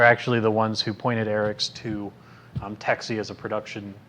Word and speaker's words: Aeryxz: While AE Boards and their owner, whose name is I believe pronounced Aryx, it's AERYXZ, has some interesting connections